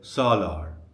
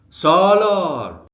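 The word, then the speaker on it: سالار: So if your friend's name is Salar, the stress falls on the last syllable l. But when you are calling him, you don't say salar. You have to shift the stress to the very beginning and say solar.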